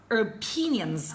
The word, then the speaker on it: opinion: I don't mean have some opinions or opinions the stress is given on the second one so the other is